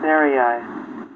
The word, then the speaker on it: Sarai: whatever they call that it's eye like in Sky it says yeah sir ey just s ey the